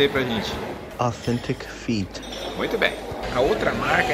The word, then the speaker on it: Authentic Feet: O pessoal aqui no Brasil fala Authentic Fit, né? Mas a pronúncia em inglês é Authentic Fit.